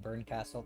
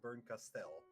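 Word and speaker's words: Bernkastel: it's supposed to be Bern Castell. That's the way I've always been pronouncing it. Burkenstelle because it's E L, not L E.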